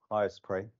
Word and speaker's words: HyStorPor: So I think it's pronounced as in let us pray. So HyStorPor.